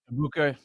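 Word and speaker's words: Egbuka: And now they have a Mecha Abuka. Is that how you say his name? Iuka.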